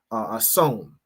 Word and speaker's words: Samhain: Halloween has its roots in the ancient Celtic festival of of hon, right, is how it's pronounced, which marked the end of summer and the harvest and the beginning of winter.